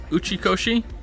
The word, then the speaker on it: Uchikoshi: Also, just to be 100% clear, am I actually saying Uchikoshi? correctly? I don't want to mispronounce someone's name.